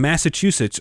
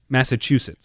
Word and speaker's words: Massachusetts: but I think it's I think it's chew. Massachusetts. Massachusetts. Massachusetts. Massachusetts. Like, you're sitting and chewing.